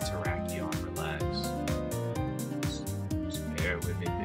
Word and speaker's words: Terrakion: Dashing gave me a lot of flack for saying Terracon in the short, but I know it's pronounced Terrakion.